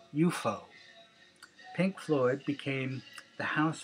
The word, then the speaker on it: UFO: Around this time, a new music venue opened in London named UFO, pronounced UFO.